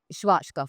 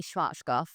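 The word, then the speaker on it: Schwarzkopf: to pronounce it right schwat goof well I say schwat goof I mean when I'm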